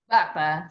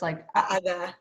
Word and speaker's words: بعبع: بعبع. So it's بعبع. Bob-ayin, but I think it's really hard to find the English equivalent for ayin.